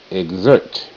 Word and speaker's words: exert: No Child Left Behind X makes two sounds KS and GZ g z g g